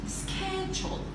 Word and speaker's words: schedule: Schedule. Schedule. This combination sounds like killer.